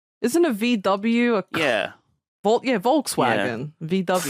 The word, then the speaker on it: Volkswagen: a VW yeah yeah Volkswagen VW Volks vagon is how it would be more iric vagen Volkswagen I mean that the V isn't quite like an F but it's close so